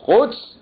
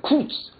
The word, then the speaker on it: قدس: درست کردن به نام سپاه قدس که این آمریکاییها نمی‌تونن تلفظ میگن کدس این برای عرض کنم